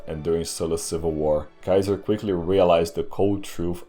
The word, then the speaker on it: Caesar: lived his name was Gaius Julius Kaiser and that's how you pronounce it but I'll call him Gaius Julius Caesar anyway saves me the trouble